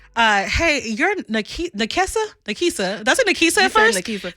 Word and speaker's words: Nakessa: I was like, it's Nakessa, which I guess me being country, sometimes the N sounds like an M.